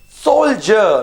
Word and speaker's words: soldier: okay the next word soldier now mind you d sounding like j like j okay the solar should